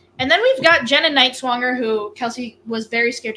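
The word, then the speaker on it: Nighswonger: wait and see and then we've got Jenna KN swanger who Kelsey was very scared to pronounce her name but that is how you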